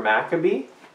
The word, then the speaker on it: MacCabe: MacCabe so think about a B and you Mac a B and I just like